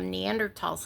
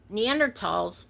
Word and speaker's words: Neanderthal: And the German language does not have a TH sound, like thal.